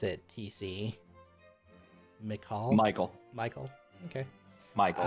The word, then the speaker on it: Michael: Father, how do you pronounce it, TC? Michael.